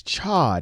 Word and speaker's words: Chod: It is Chod. It is spelled C-H-O-D.